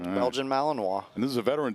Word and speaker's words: Malinois: k9's name is Ace Belgian Malinois is that how you say it that is absolutely correct Belgian malinoa and this is a